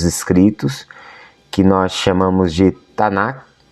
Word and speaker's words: Tanakh: que nós chamamos de Tanakh, embora a sigla seja T-N-K, Tanakh, e muitos pronunciam Tanakh, a pronúncia no hebraico moderno seria Tanner.